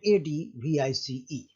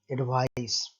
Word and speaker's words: advice: word a d v i s e and a d v i c e the first word a d v i s e is pronounced as a device however the second word